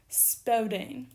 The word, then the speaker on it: speudein: And that is the present infinitive, the present active infinitive, speudein. As for putting on the accent, all present active infinitives take their accent on the penult, which actually makes a